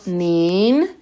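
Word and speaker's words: 您: única diferencia es que en vez de estar utilizando ni, está utilizando nin con el segundo tono y la N al final, porque recordemos que no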